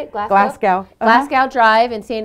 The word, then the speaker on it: Glasgow: Glasgow.